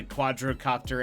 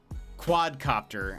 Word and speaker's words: quadcopter: Out of nowhere he goes, "What's the difference between a quadrocopter and a helicopter?" I said, "Well, a quadcopter, I've been saying it wrong.